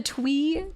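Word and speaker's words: Twi'lek: planet of Mississippi the twe tweix twei this we talked about this is it Twi or twe and you guys said technically it's both hold on we've got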